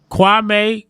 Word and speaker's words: Kwame: Kwame Kirkpatrick. Is that his name? Did I say it right? Kwame, yes, sir.